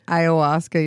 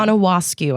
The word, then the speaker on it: ayahuasca: When you see it, you're not thinking ayahuasca. You're thinking ashwa. What? Yeah. Anahuasca, I think is how I said it for a little bit.